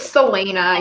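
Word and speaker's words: Celaena: Do you pronounce the other name Selena? It's Selena, yeah.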